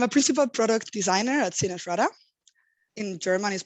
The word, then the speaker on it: SinnerSchrader: easier so i'm a principal product designer at cinesrada in german is pronounced zinashada and this is one of accenture's interactive creative